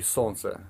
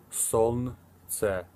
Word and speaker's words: солнце: Солнце. It's a little difficult to pronounce it because I know there's like солнце, you know, so you want to say it fast, which солнце.